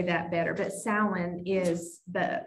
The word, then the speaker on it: Samhain: So the tradition is that it's associated with an ancient Celtic festival called Samhain. If you were to see the word, you would not think that's how it's pronounced.